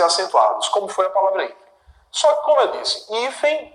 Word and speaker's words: hífens: Esse é o primeiro plural aqui, só destacando que a sílaba tônica continua sendo essa. Hífens, isso aqui é mais forte.